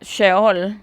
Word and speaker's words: sheol: Ah, sheol, así es como se dice, se pronuncia con la h, por eso le puse así. No tiene el ch, no tiene el mismo significado que ahora le atributamos.